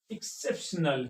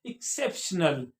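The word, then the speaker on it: exceptional: एक्सेप्शनल क्या पढ़ेंगे एक्सेप्शनल यानी यहां पे ग गा नहीं पढ़ा जाएगा एक्स को एक्स एक्स को हार्ड जो हार्ड जी होता है उसको नहीं उसको प्रोनाउंस नहीं करेंगे एक्स को हम एक्स की आवाज बदलेगी नहीं यहां पर क्या निकलेगी यहां पे वही आवाज निकलेगी एक्सेप्शनल क्या पढ़ेंगे एक्सेप्शनल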